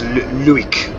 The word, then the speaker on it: Luik: So that place we just saw on the sign, I'm not sure how you pronounce it, but it was Luik, L-U-I-K.